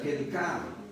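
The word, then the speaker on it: חלקה: En Ruth 2.3 encontramos la palabra kelkah, es C-H-E-L-Q-A-H, C-H-E-L, se escribe chelkah con Q-A, en lugar de K es Q-A, chelkah, se pronuncia kelkah.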